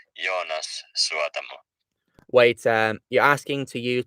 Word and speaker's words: Jonas Suotamo: Yeah, his name is pronounced Jonas Suotamo.